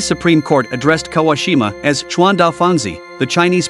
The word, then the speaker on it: Chuandao Fangzi: The Hebei Supreme Court addressed Kawashima as Chuan Da Fangzi, the Chinese pronunciation of her Japanese name.